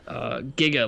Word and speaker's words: Giga: Is it Giga or Giga? I forgot. I think it's Giga. You better pronounce Giga, or else everybody's gonna make fun of you right now. Yeah. I'm not Jay-Z, guys. I'm kidding. Giga, like Giga Drain from Pokemon, whatever.